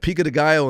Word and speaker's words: pico de gallo: Pico de gallo, guacamole, queso, or salsa. One of them has to go. And pico de gallo and salsa are different.